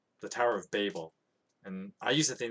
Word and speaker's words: Babel: Tower of Babel, and I used to think that was weird,